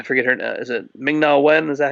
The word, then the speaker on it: Ming-Na Wen: speculated whether I forget her now is it ming-na wen is that how you say her name yeah